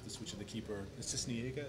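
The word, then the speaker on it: Sisniega: And the second half, the switch of the keeper, Cisniega, is that how you pronounce his name? Yes, Pablo Cisniega.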